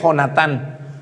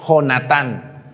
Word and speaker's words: Jonatán: Porque con J es Jonatán. O no se pronuncia así la J. ¿Cuándo han visto que con J le digan a alguien como pronunciación de Y?